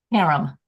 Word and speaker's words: Karem: And Karem, and I'm saying Karem is Kareem or Karem? Karem.